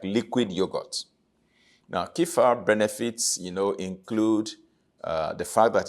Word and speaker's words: kefir: It is spelled K-E-F-I-R, kefir.